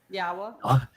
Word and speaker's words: Yahweh: So, every place that you go, we're told that the Wa is pronounced as an O sound, and the Hey is pronounced as an Ah, and the Y is pronounced like you would pronounce it in Yisrael or in Yashaya Yes. or in Haya.